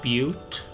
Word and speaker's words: Butte: Oh, by the way, that town that I thought was just Butte, it's apparently pronounced Butte. I looked it up.